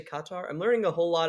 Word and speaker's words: Qatar: Apparently, you're supposed to say Qatar.